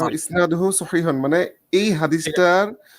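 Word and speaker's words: إسناده صحيح: শান্ত হ্যাঁ ভাই, উচ্চারণটা হবে ইসনাদুহু সহিহুন, মানে এই ঠিক আছে।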